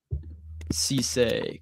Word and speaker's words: Cisse: the athleticism is not what you necessarily want to see, but I think Cisse, correct pronunciation.